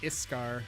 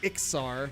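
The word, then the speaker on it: Iksar: That's how I pronounce it. I pronounce it Iskar. It's probably pronounced Ixar, but whatever.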